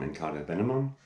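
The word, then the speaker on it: In Cauda Venenum: The vinyl copy of their new album, Incauda Venenum, I think it's actually pronounced. It's Latin, but it's signed by the band, and I love the album cover.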